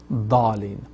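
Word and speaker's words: الضالين: So it is then now if you listen to any Arab brothers and sisters, they pronounce it Dallin. So da is correct inshallah rahman.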